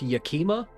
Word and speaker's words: Yakima: Think it's pronounced Yakima?